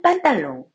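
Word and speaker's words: pantalon: 프랑스어 표현들에 대해서 보면 판타롱이라는 단어가 있어요 프랑스어 발음으로는 빤딸롱 그리고 뜻은 바지라는 뜻인데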